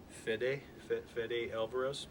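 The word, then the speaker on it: Fede Álvarez: Fede Alvarez.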